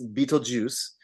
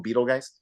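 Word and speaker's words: Betelgeuse: like b t l geu s that is beatle juice um and in the text of the movie it's spelled that way and and people even even people mispronounce it they call them Beetle guys Beetle guys yeah for the longest time I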